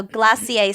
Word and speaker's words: glacier: Frozen and cold desserts also glassier spelled like Glacier easy to remember glass means ice mhm okay what's ice